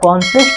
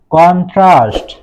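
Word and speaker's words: contrast: আমরা কিন্তু অনেকেই কন্ট্রাস্ট উচ্চারণ করি, কিন্তু এটা কন্ট্রাস্ট হবে না, এর সঠিক উচ্চারণ হচ্ছে কন্ট্রাস্ট। কন্ট্রাস্ট অর্থ হচ্ছে বিপরীত অথবা তুলনাও বোঝায়।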